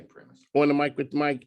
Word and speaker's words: PRIMIS: I don't care how you call it, pronounce it, but we say PRIMIS.